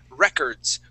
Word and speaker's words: records: I'm gonna highlight here this word is records with the accent at the very beginning records so it's records